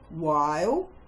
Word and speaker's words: while: Now, can you remember the 3 other common words with a silent H? While, whether, as in whether or not you know the answer, and whine, when you are complaining.